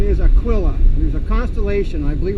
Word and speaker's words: Aquila: want to pronounce it I think the true pronunciation is Aquilla there's a constellation I believe it's Aquilla and